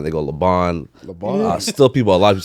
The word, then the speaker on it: Libaan: So with that in mind, we have Toronto Star journalist and the host of the Canadian Basketball Show, Libaan.